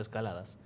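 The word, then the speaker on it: Escaldes: gordoniz se pronuncia así se escribe escalades pero se pronuncia escaladas se está contrio una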